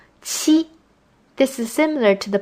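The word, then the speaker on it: 去: fourth song is pronounced chi this is a combination of a t and a ch sound chi this is similar to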